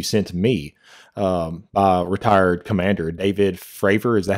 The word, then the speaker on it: Fravor: And it says right here, Richard, within this article, the one that you sent me, retired commander David Fravor, is that how you say his name?